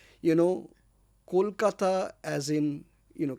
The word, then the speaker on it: Kolkata: I actually call these people out and say you know Kolkata as in you know can you pronounce Cole as in C O A L then you know